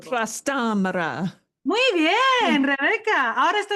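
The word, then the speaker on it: Trastámara: It's got an accent in Spanish. When we have an accent, it means the stress is in that syllable. Trastamara.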